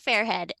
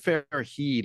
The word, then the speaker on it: Fairhead: well Ryan Bennett like usual and author fairhead and this time I said his name right